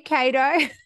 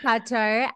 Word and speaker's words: Cato: for the first time, your name is Cato, which I just discovered because I was pronouncing it in the Aussie accent, like, hey, Cato. So, it is Cato.